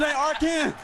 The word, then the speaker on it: Arkansas: I got that wood, and that's how you pronounce it. Arkansas.